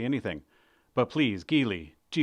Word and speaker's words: Geely: Come on, Geely like Geely.